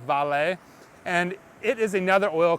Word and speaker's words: Vale: on US Stock markets most people think it's veil it's actually pronounced valet and it is another